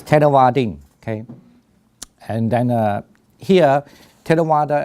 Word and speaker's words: Theravada: The V you don't have to pronounce as English V, but you could pronounce the W. It's fine because exactly the word in the language you don't have V and W.